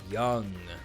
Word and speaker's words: Jung: on the day Gary Young or Jung I'm not sure that's normally that's pronounced young because of Carl Young but we'll see actually